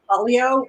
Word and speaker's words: Pollio: to ask you that it's actually polio but I get all kinds of pronunciation so I just accept